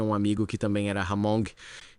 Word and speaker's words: Hmong: eles são chamados de Hamong. Tipo Hmong. É meio difícil de pronunciar, mas tem um H mudo na frente, ou quase mudo.